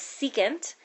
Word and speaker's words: secant: stands for cosecant and this one right here that's SEC you say that out loud is secant and this one that